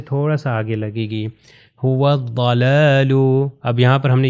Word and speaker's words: هو الضلال: سے مل جائے گا۔ نیکسٹ ایگزامپل بھی اسی طرح هو الضلال، یہ جو واو جو ہے ضاد سے مل جائے گا اور یہ الف لام تلفظ نہیں ہوگا، تو اس کا پروننسیشن ہو جائے گی هو الضلال۔ اب ضاد کا آپ